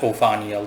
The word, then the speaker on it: Ophaniel: Instead, Lord Ophaniel, I prefer to call him by the, just pronounce his name flat, Ophaniel, just like Bariel and Ophaniel.